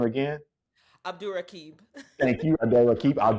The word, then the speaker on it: Abdurraqib: I'm sorry, I can't pronounce his last name. Abdur Rakib. Abdurraqib, thank you, and Samantha Urbias in the first season.